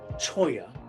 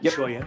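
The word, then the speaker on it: Cholla: Uh Buena wrestling team just dominated uh over Choya. That's how it's pronounced, right? Choya.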